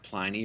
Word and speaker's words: Pliny: the the a.d is a pliny or plenty depending on if you're from texas how you want to say his name but uh